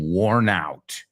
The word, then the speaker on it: worn out: I'm worn out. Estoy desgastado, cansadísimo, worn out. Fijaos cómo lo pronunciamos. I'm worn out. I'm war, suena como guerra.